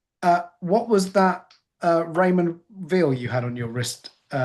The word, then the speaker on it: Raymond Weil: Uh what was that uh Raymond Weil you had on your wrist? Uh Oh, that's the new Raymond Weil, apparently. That's how you pronounce it.